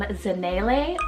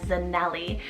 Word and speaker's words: Zanele: We have the gorgeous name Zanele, or you can pronounce it as Zanelli. So there is definitely, like, depending on where you're from, it is a Zulu African rooted name, so they would pronounce it as Zanele, and this particular name means they are enough.